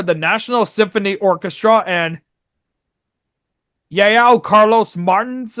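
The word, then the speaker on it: João Carlos Martins: And the performers were the National Symphony Orchestra and Yao Carlos Martins, I think is how it's pronounced.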